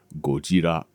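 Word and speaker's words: ゴジラ: The correct way to pronounce the word is gojira. That is the way the Japanese pronounce it.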